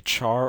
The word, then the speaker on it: char: A char or car depending on how you want to pronounce it is another text variable type.